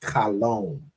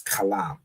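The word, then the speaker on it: חלם: The oppressor will show it as kalawam because he added this y in here to make an o sound. So like you'll see here, he pronounced it as kalom, but really, it's kalam.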